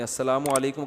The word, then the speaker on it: السلام علیکم: السلام علیکم اور صلی اللہ علیہ وسلم کا صحیح تلفظ بتا دیں. السلام علیکم کا ہے السلام علیکم, جو آج کل لوگوں